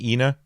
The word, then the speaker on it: ENA: Long E sound, Ena.